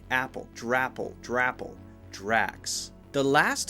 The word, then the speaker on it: Drax: heard some people say dress dress just an S sounds not correct before that s sound you have to have the K sound it's just like the